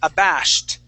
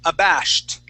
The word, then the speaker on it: abashed: time abashed abashed okay give me a t sound at the end um here you're saying abash and you're pronouncing that sh but the t is not sounding so we want to say abash abash there you go one